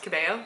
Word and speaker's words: Cabello: She's traveling, or performers, whatever you want to call them, traveling with Charli XCX and Camila Cabello. I recently realized it's pronounced Cabello, so cool if you didn't know that.